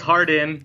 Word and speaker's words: Hardon: okay so I here with is it hard on or Harden it's hard in is how it's pronounced that's good because now the funny thing